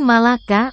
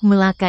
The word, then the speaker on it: Melaka: Malaka dan hang tua Kesultanan Malaka atau yang dalam pelafalan orang Malaysia disebut Melaka itu terletak di semenanjung